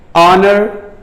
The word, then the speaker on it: honor: Eighth one, Hughes, honor, hungry. Hughes, honor, hungry. Here H is silent. Here ha, here also ha, but here H is silent and the sound is produced like honor, honor, not honor, honor.